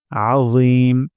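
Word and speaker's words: العظيم: রব্বিয়াল সুবহানা রব্বিয়াল তারপর আজিম আইন গলার মাঝখান থেকে উচ্চারণ করতে হবে আ তারপর রি জিহ্বার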